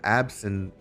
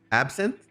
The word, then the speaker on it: Absinthe: How do you say this name? Absinthe? Absinthe? It's true. I checked with them. Yeah, no. Absinthe? The E is silent.